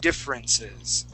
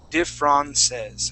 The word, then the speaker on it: differences: we pronounce that differ differences okay try that please differences differences okay right now you're saying diff wrong diffrances all right we want to say differ differences differences differences okay so um that